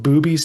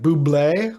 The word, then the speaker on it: Bube's: are you familiar with Booby's Tavern? Have you ever heard of that? Not at all. I know. No. So I was pronouncing it like Buble, like Michael Bublé, even though it's Yeah,